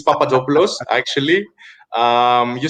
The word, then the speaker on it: Papadopoulos: the same which is papadopoulos uh but you you say it with that extra uh stress on the oh you after the p so it's papadopoulos yes yeah yeah and